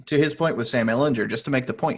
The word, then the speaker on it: Ehlinger: him and say, it's Sam Ehlinger with a hard G. And that's how we all learned that the man's name is Ehlinger. So forever hard G for me.